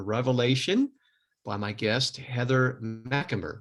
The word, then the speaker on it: Macumber: the monstrous in revelation by my guest heather mcemer right i got that i got there you go got the pronunciation right well heather thank you so much